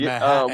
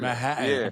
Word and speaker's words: Manhattan: Oh, cuz I didn't hear any T's at all when you pronounce the second. It was Manhattan. We call it the city. Manhattan. Got it. Manhattan.